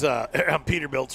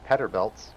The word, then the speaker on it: Peterbilt: Peterbilts, yeah. So oops. I heard an English guy call them Petterbilts. Petterbilts? Well, in all fairness, in Finland, that's of course it's spelled with two T's though.